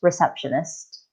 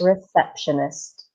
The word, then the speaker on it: receptionist: desk and we call this person the receptionist receptionist exactly so let's try and practice that words